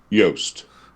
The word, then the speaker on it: Yost: how do you say your last name yoast y-o-s-t yeah this one is i i thought